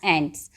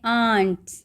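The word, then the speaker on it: ants: ए एन टी एस बहुत सारे बच्चे इसको बोलते हैं आंट ये आंस नहीं है इसको कैसे प्रोनाउंस करते हैं एंट्स आंट तो आपकी चाची होती है है ना चाची जो होती है उनको हम आंट बोलते हैं तो यह आंट नहीं है ये चाची नहीं है ये चीटियां है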